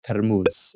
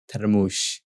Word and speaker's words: termus: So we use this one maybe to put the tea after we cook, and it's called termus, or you can say termush, with a sh sound at the end or with a s sound at the end.